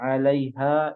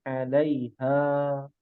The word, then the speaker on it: عليها: Ya, di mana kata alaiha itu 2 harokat ya, mad tabi'i ya. Ya. Di wa inna laja'iluna ma 'alaiha. Nah, jadi dibacanya lebih panjang 2 harokat ya. Tadi sempat panjang, dibacanya pendek 'alaiha sa'idan juruza.